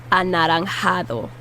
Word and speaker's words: anaranjado: Orange is anaranjado. Anaranjado. Break it down. You can do one syllable at a time. Anaranjado. And the D is the soft TH sound.